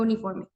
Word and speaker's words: uniform: Pero se pronuncia uniform. Recordemos que la pronunciación de la R en el inglés no es tan fuerte como lo suena en el español y su sonido es más como R, ¿ok?